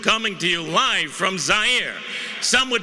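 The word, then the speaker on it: Zaire: Howard Kosell coming to you live from Zire. Some would pronounce it Z.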